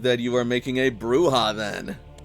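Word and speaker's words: Brujah: So I believe that you are making a bruha then. Yes. Brilliant. Uh how do we spell that again?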